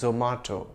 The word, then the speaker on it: Zomato: a similar quanji with the brand name zomato or is it zumato or zomato well zomato is an Indian multinational and I've heard its Indian Founders pronounce it as zomato so that's the right pronunciation we'll let Fred and